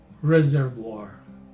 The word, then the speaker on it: reservoir: as you can see the third and last syllable is pronounced as voir and the letter a